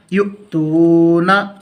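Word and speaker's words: يؤتونا: حمزہ زبر را، اقرا، یا حمزہ پیش یو، تا واو پیش تو، یو تو، نون زبر نا، یؤتونا، جیم حمزہ زیر جی، نون الف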